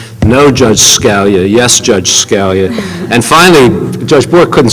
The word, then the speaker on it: Scalia: attorney kept saying no Judge Scalia yes Judge Scalia and finally Judge Bourke couldn't stand it any longer. He said, "Council, it's not Scalia, it's Scalia."